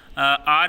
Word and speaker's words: our: आर is adjective, जैसे कहते हैं जैसे आप कहते हैं आर class, uh book, uh कंट्री. This is नॉट अवर.